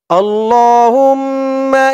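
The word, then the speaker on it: اللهم: হামজা লাম জবর আল, আল লাম খারা জবর ল, আল্লাহ, আল্লাহ। হুম্মা। হামিম পেশ হুম, মিম জবর মা, হুম্মা। হুম গুন্না হবে। আল্লাহুম্মা, আল্লাহুম্মা।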